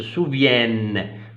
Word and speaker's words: souviennent: Alors, la prononciation du N, alors, se souviennent. Vous avez deux N, E-N-T. Voilà.